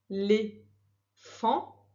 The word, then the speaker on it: éléphant: Un, plus loin, éléphant, éléphant. C'est le an qui s'écrit avec un A. Et à la fin de éléphant, il y a une lettre muette. Donc c'est un éléphant. Dans, c'est le mot outil, dans.